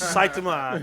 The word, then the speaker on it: Saitama: It's Saitama. 'Cause that's the way they pronounce it on Well, the show.